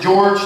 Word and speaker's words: Jorge: Now, George is spelled like Jorge, but my mom pronounced it George to confuse immigration.